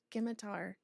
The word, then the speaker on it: scimitar: I'm fairly certain that's not what a a How do you pronounce it? A scimitar. Skimitar. I say scimitar.